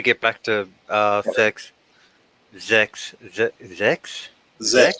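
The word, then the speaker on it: sechs: Zex. X. German for 6. Zex. Yeah, I always pronounce it as a Z.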